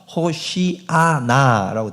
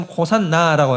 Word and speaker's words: 호시아나: 그래서 우리가 지금 호산나라고 하는 것은 원래의 발음이 호시아나라는 것입니다.